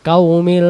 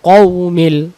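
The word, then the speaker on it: الْقَوْمِ: লাম জের মিল আলাল কওমিল কওমিল ক মানে ক আকার হবে না ক আর ও কও আর এখানে কয় আকার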